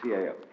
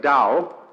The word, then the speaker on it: Dao: in the know can decide how it's pronounced. We should have spelled it d o w you see but it's the tao.